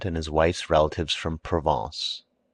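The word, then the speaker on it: Provence: his wife's relatives from provance pronounced proong he imported officials by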